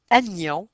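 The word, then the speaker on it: anion: La façon de le retenir négatif, on prononce vraiment le N. Et dans le mot agion, on prononce aussi le N. Par contre, dans positif euh on il n'y a pas de et dans cation, il y a pas de N.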